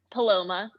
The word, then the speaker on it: Paloma: And to just to make sure, the pronounced name is it Paloma or is it Mhm. Paloma? Paloma.